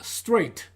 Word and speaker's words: straight: 이건 뭐 눈에 봐도 단음절인데 우리가 한글로 표기하고 실제 또 발음할 때는 is라고 해서 이음절로 발음합니다. 그리고 그 다음은 straight.